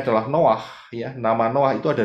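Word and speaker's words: נח: Nah, peristiwa Noah ini, ya, bahasa Indonesianya Nuh begitu ya, tetapi sebetulnya adalah Noah karena ada dari dua huruf. Ingat ya, bacanya dari kanan. Noah.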